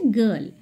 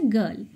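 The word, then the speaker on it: girl: Exceptional একটা আছে সেটা হচ্ছে গার্ল। জি আই আর এল। আই এর আগে জি বসলেও এক্ষেত্রে কিন্তু জি এর উচ্চারণ জ হচ্ছে না। তখন হচ্ছে গার্ল।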